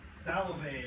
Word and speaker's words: Salovey: Salvay, you said? Salovey, I'll spell it for you.